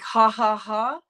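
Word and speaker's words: jajaja: spanish speaking friends and we'll say like ha ha ha but it's spelled j a j a j a when my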